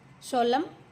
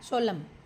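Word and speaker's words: solemn: great victory, mockery उपहास, किसी का मजाक उड़ाना, making fun ऑफ समवन, menace संकट, डेंजर और थ्रेट, सोलम इसमें एन साइलेंट है बेटा, सोलम, गंभीर सीरियस एंड फॉर्मल,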